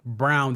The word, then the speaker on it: Braun: So maybe Brown gets the minutes of, well, Brown that's spelled Braun.